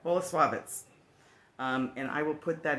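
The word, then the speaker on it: Bolesławiec: And it comes from an area of Poland called Boleslawiec. Okay, I messed that up. Boleslawiec.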